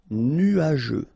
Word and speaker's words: nuageux: Final X not pronounced, and then G-E-U, je. Nuageux.